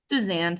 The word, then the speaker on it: Suzanne: Because I didn't necessarily see it as predatory as, is it Susan or Suzanne? I want to make sure I say it right. Suzanne, sir.